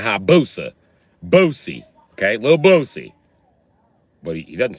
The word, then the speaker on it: Lil Boosie: Is it Lil Boozy or Lil Bozy or Lil Boosie? You be like, you ever heard of Boosie Collins? Okay, it's Lil Boosie.